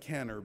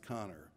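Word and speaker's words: Kanner: Johns Hopkins Hospital namely O'Connor it looks like caner but it's pronounced connor and he wrote a paper describing eleven children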